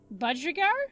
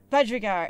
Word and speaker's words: budgerigar: it a bud yeah i think there was a different emphasis budgerigar budgerigar i think it was that one bud figure yeah a